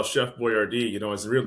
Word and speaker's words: Boyardee: And then he was like, well, Biordi isn't really, he doesn't come phonetically really well off the tongue. And he called it Boyardee.